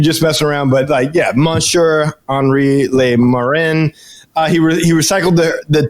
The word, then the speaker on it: Henri: No, Henry. When it's spelled like that, it's Henri. Henri!